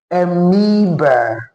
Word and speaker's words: amoeba: That word is actually pronounced amoeba and not amoeba.